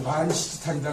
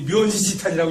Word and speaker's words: 만시지탄: 보통 그게 이렇게 해가지고 만시지탄이다 이렇게 요 얘기 많이 해줘요. 만시지탄 탄식한다 해서 만시지탄이다 이제. 때가 늦었으면 후회한다, 이제 보통 이렇게 해서. 만지지탄. 옛날 요게, 국회의원들이 옛날에 못 읽는 사람이 묘지지탄이라고 읽었다 그러는 거 아니에요?